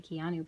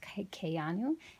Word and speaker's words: Keanu: From Keanu Reeves, a lot of people say Keanu, but it's actually pronounced Keanu, and it means the coolness.